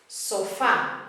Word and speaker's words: sofá: Sofá is another one that breaks the rule, breaking the same rule number 1. It's got a vowel at the end, but it's an accented vowel.